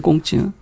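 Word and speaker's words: 孔子: 그래서 공자가 이제 중국식으로 발음하면 꽁찌인데 꽁찌.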